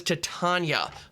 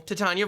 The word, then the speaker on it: Titania: But we are going to be looking at our first meld creature, and that is Titania, Voice of Gaea. I've also heard a lot of discussion. Is it pronounced Titania?